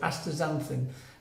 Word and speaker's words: Astaxanthin: It's spelt with an X in the middle, but it's called Astaxanthin, and this has got DHA.